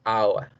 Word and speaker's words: hour: Miren, un triptongo, la A, la U y la schwa. A, U, schwa, hour. Hour.